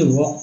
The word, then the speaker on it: walk: देखिए ये वॉक पढ़ते हैं, यानी क पढ़ते हैं।